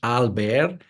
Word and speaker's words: Albert: And because my name is Albert, pronounced in French Albert, so she made that connection as Albert the pathologist.